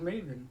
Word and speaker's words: Maven: No, his name is Maven. There's two syllables. There's two vowels in that.